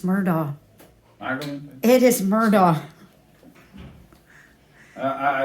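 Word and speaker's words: Murdaugh: Murdoch right murder people don't know how to pronounce it correctly it's murder it is Murdoch you're from the south it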